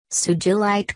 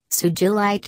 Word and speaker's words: sugilite: as with most minerals its pronunciation is intended to be the same as the person it is named after in this case the